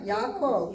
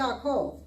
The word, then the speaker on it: Yaakov: So So when you say it fast, it's still two syllables? or two it's still syllables? two, Yaakov. Okay. But you're saying it so fast that your brain doesn't really hear Mhm. Yaakov. You almost have to say it slow to hear the two.